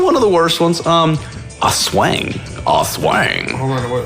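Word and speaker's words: aswang: A swang. Hold on, what? How do you spell it? A swang. A-S and it's like as and wang. Ass wang.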